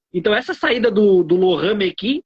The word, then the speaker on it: Mekies: Então, essa saída do Laurent Mekies, Laurent Mekies porque é francês o nome dele.